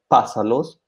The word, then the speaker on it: pásalos: That's why we have, in this case, a verb like pasar with three different forms: pásalos, pásamelos, estoy pasándotelos. So in this case, we always stress that sa syllable.